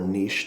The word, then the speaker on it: niche: go through and join any Niche groups or Niche depending on how you say it that are in